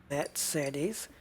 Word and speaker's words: Mercedes: We need to go to the rim shop, and we are specifically looking for Mercedes, or to pronounce it correctly, Mercedes.